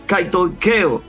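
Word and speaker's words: κατοικέω: Lo voy a decir bien al paso. Es kaitoikeo. Y kaitoikeo, y lo estoy pronunciando incluso de manera dominicana para que se entienda, significa algo que se aloja permanentemente.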